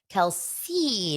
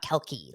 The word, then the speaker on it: Kelce: Taylor Swift and Kelsey Travis Kelsey not kelkey like I've heard a couple people pronounce we do have some